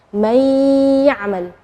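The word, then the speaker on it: مَنْ يَعْمَلْ: May ya'mal ya. May ya'mal ya. Nunnya tidak jelas tapi ada suara dengung gunnahnya.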